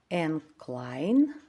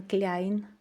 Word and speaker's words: Kleine: В нас кажуть Kleine. Іменно, а не кляйн.